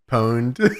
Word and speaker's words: pwned: Pwned. The P is actually an O, James.